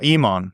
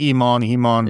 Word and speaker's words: Human: Eman. Yeah. like almost like Iman.